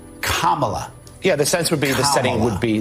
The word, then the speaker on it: Kamala: years you're a white woman disres Harris it's Kamala yeah the sense would be the setting would